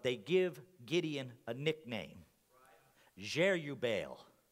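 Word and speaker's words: Jerubbaal: me lord but they give gideon a nickname jere you bale j e r u b b a a l if you can pronounce it better go for it but jere you baal and literally it means this let baal fight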